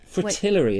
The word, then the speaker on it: fritillary: Snake's head fritillary. Fritillary, is that how you pronounce it?